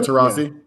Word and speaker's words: Taurasi: has i probably said do i say her name right that's how you say her name diana taurasi she to me i